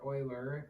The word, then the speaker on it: Euler: say Pi remember from Euler's famous theorem or Oiler as it's correctly pronounced e to the pi